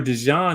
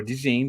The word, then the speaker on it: DeJean: Cooper DeJean in the slot, or DeJean, depending on how you say it.